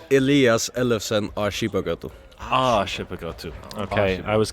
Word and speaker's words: Elias Ellefsen: Elias Ellefsen, Skipagøtu.